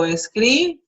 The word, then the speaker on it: escriba: So escriba, escriba, okay? Notice that the pronunciation changes from escribir, which shows the accent in the last syllable, and here it goes to second to last.